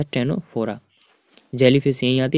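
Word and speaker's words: Ctenophora: ये भी सी से स्टार्ट होता है लेकिन सी साइलेंट है। टेनोफोरा, प्रॉपर्टी क्या है इसकी?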